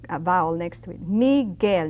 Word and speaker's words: Miguel: Michael is Miguel. Now that U is very silent when it's a G and a vowel next to it. Miguel, not Miguel, but Miguel.